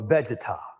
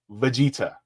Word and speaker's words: Vegeta: taking in a one versus one Goku or vegar from drag hold up Vegeta Vegeta Stephen step Stephen bro at least learn how to pronounce the name it's Vegeta oh my gosh I'm so glad they didn't